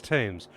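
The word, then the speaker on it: Thames: this is the great US river how you pronounced that Oh that's tames oh these are I thought this was the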